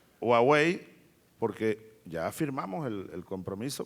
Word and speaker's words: Huawei: ¿Cómo se pronuncia? Huawei. Huawei, porque ya firmamos el compromiso para instalar aquí con transferencia tecnológica una fábrica de teléfonos celulares.